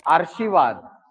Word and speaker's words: आशीर्वाद: आशीर्वाद। क्यों सर? क्योंकि इसका उच्चारण देखोगे तो आशीर्वाद। क्यों? रा श के पहले उच्चारित होगा, ये ऐसा उच्चारित होने लग जाएगा, जो कि गलत है।